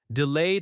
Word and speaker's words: delayed: Delayed has stress on the second syllable, delayed.